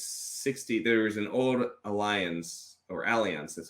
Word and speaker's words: Allianz: There's an old Allianz, that's how you pronounce it, study from a few years back